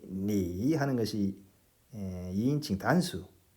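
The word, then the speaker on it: 你: 성조, 삼성 성조가 있으니까 이제 제대로 발음하면 니 이렇게 되겠죠.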